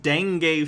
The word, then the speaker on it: dengue: curb malaria and the dang fever and they're gonna do this by i was gonna say he means dengue right even i know that it's pronounced dengue fever what the hell using